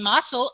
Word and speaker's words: muscle: never rhyme with salt in muscle as c is s in muscular it's sk